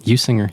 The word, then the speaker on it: Usinger: We're joined today by Usinger. Is that how you say it? Usinger. You got it.